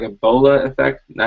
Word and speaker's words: bola: of got like a Bola effect now I didn't say Ebola I said Bola like bolo I don't know how